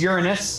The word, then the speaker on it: Uranus: Here comes Uranus. We have to pronounce it that way, otherwise you guys giggle.